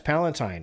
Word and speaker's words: Palatine: Germany's population was suffering, and many groups, including the Catholics and of Palatine origin, fled to find Palatine, like Emperor Palatine. Yeah, it's Palatine.